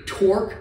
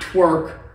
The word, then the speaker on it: Torq: Gonna put a Torq, not twerk, son, none of that stuff. Lift kit on it, 2 inches. Let me show you what we got. Check out this bed, Torq. You gotta say it like you're tough, you know, Torq.